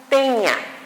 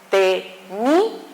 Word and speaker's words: tenía: Por ejemplo, tenía, no es teña, es tenía.